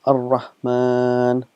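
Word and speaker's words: الرحمن: It's written as Ar-Rahmanu, but we pronounce it as Ar-Rahman.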